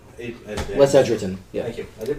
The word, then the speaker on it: Les Edgerton: So, It should be a story-worthy problem, to borrow a term from the book Hooked by Les Edgerton. Les Edgerton. Yeah. Thank you. I did pronounce it right.